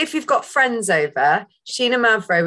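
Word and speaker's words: Xinomavro: And it's a good, particularly if you've got friends over, Sheena Mavro, which is spelled with an X, Greek variety, particularly produced in the Nausa region of Greece.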